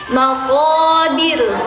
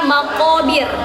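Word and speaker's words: مقابر: Maqabir bukan maqobir. Bukan maqobir, bukan maqo tapi maqo maqo tidak boleh mentut, tidak boleh monyong teman-teman ya.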